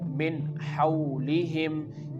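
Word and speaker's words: مِنْ حَوْلِهِمْ: Here the mim is followed by noon, and when we make the connection of meme with noon, we have to pronounce it like min hawlihim.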